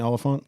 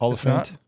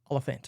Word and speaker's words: Olyphant: Timmy Olyphant. That's not how you say it. Oliphant.